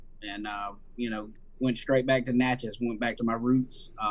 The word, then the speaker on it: Natchez: Can you pronounce that for me, please? Mississippi? Yeah, I'm from Natchez.